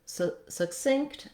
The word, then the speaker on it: succinct: everyday speech first off the word succinct and succinctly they both have second syllable stress so that means that